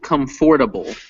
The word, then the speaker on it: comfortable: for the word comfortable so it's spelled comfortable but the way this is actually said in english is comfortable comfortable comfortable yeah that's correct so